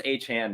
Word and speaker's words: Achane: I need to watch this video of how to pronounce it because I know it's Achane now, but I still feel like it's Devon given the apostrophe.